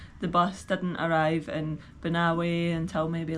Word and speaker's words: Banaue: I was pronouncing it wrongly before. It's actually Banaue, not Banaue, which I was saying before.